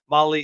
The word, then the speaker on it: Mahle: Molly is spelled Mahle.